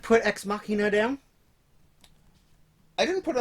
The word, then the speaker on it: Ex Machina: It is pronounced Ek Machina. It's a good one. Did you not put Ex Machina down?